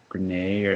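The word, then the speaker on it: Grenier: Chase uh in entourage Adrien Gren I think that's how you say his name it sounds of French uh he play Aquaman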